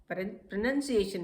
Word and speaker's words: pronunciation: प्रोनाउंसिएशन. Pronunciation is the right pronunciation for this word.